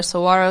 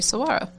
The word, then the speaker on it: saguaro: I know it, from what I've read, the G is more of a WH sound, which I thought is interesting.